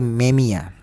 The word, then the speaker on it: Memija: Memang tulisannya Kerim Memija, tapi cara bacanya adalah Kerim Memia.